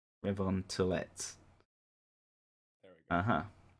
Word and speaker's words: Revontulet: Ice Fairy, Revon Chule. Close. That's Finnish. Close. How do you say it then, Haamu? Revontulet. Revon Tulette.